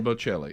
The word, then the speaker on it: Bocelli: Is it Andrea Bocelli? Bocelli, yeah. Is singing at the G7, and so this is the leader of the free world.